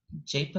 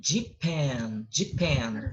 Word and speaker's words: Japan: Então, Japan não, sorry. Japan. É assim que se pronuncia o nome do Japão.